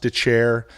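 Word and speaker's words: Dethier: of mine uh dylan de chair spelled death ear pronounced the chair uh who is a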